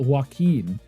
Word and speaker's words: Joaquin: But I'd seen in multiple interviews that Joaquin is the pronunciation of his name.